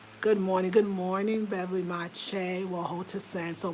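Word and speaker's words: maakye: repre the sound of the kye is ch ch ch so the m a a ma ma right because you see the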